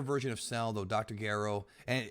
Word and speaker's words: Gero: Gero, and I'm using Gero because that's his Japanese name. Jiro is what they call him in the dub, but Gero is the right way to say it.